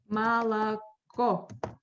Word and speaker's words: молоко: O is under thread, the last one. That's why. Молоко. Yes, that's why I pronounce it like Malaco.